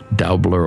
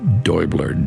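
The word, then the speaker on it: Däubler: Dutch, and I think you'd say his name Daubler or Deubler, Daubler, with that little umlaut thing over the, and he describes color as suffering and structured light.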